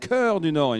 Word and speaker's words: Cœur du Nord: Coordinord. Cœur du Nord pour Bernard. Oui, c'est la langue française, c'est un petit peu compliqué. It's quite complicated. It's CH, but it's pronounced Cœur du Nord in France.